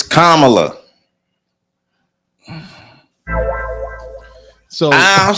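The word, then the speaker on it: Kamala: a contention uh for camela kamla Kum whatever the hell how the hell they want to say that say her name it's kamla so I don't say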